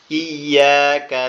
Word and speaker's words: إياك: ইয়াকা নাবুদু ওয়া ইয়াকা নাস্তাঈন। ইহদিনা সিরাতাল মুস্তাকিম। সিরাতাল লাযীনা আন'আমতা আলাইহিম غير المغضوب عليهم ولا الضالين. আমিন। এখানে এরকম হবে, ইয়াকা না'বুদু ওয়া ইয়াকা নাস্তাঈন।